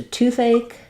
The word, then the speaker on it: toothache: when it comes to toothache tooth a um this a is kind of a strange spelling we have the a dip thong and then the CH says the C sound so and we have